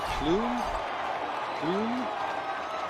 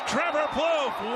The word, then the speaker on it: Plouffe: Plume? Trevor Plume? How'd you say his name? Plouffe walks him off. Oops. On a home run as Trevor Plouffe walks him off.